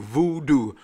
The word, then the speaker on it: Vudu: All right, next on the list is, I think it's pronounced voodoo. V-U-D-U, voodoo. I'm assuming. I've never really heard anyone pronounce it, so I've always called it voodoo.